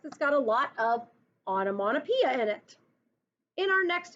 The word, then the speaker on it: onomatopoeia: You pronounce this word onomatopoeia. It's spelled crazy, and I had to look it up to make sure I spelled it correctly.